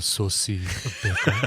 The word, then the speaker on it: Sosie Bacon: It's pronounced Sosie Bacon.